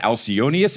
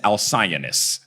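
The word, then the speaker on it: Alcyoneus: I also do have to say that the way he says Alionius is Alsionist. There was no I know Al Cionist like he's got problems with his notes.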